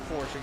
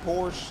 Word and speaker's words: Porsche: got really, really mad, because it is technically, actually, it is Porsche, guys. I know some of you guys are like, oh, no, it's actually Porsche. No, it is Porsche. The guy's name who invented it is Porsche. So, he's German.